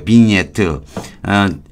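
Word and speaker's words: vignette: 비번 팀 주제에트라 그래요 미니에트 짓자는 발음이 안 되고 바이는 와인하고 같은 거예요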